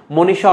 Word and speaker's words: মনীষা: পরের প্রশ্নটি, মনীষা অর্থ কি? খুবই গুরুত্বপূর্ণ। মনীষা এবারও আসতে পারে। মনীষা এটা হচ্ছে বানানের উচ্চারণ হবে দেখো কি মো, তারপর হচ্ছে নি, তারপর হচ্ছে সা, এটি হচ্ছে তোমার উচ্চারণ গেল।